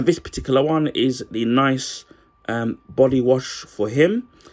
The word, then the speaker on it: Nicce: And it's from a company called Nice, which funny enough they've spelled with two C's, so guess that makes it really unique.